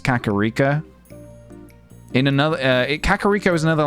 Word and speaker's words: Kakariko: Yeah, when I was younger, I used to say Kakariko. But, yeah, I think it's Kakariko.